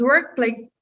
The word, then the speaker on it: workplace: So remember, advanced pronunciation here, we're going to, because even though it's a C and this is an S, they have the same sound, right? They're both S sounds. So you're not going to pronounce this one. You're going to say work, play, and then stress.